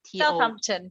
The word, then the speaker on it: Southampton: We do have some weird pronunciations in this country. Right. Okay, it's a then SUTH South, then it's AMPTO. Southampton.